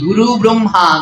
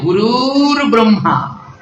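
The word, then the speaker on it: গুরুর্ব্রহ্মা: আমরা সবাই উচ্চারণ করি গুরু ব্রহ্মা গুরু বিষ্ণু, উচ্চারণটা ভুল। ওখানে একটা রেপ আছে, উচ্চারণ হবে গুরুর ব্রহ্মা গুরুর বিষ্ণু গুরুর দেব মহেশ্বর। গুরু ব্রহ্মা নয়।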